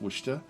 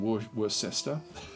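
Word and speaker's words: Worcester: know that like that's I'm pretty sure that's pronounced wer rather than wor sester and there's a few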